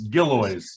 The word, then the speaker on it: Gillioz: you long enough to say it's gilloys gilioys all right just gilloys no no it's not like it's spelled at all it's giloys g-i-l-o-i-o-z no no second eye in there all right yeah giloys all right very good Jeff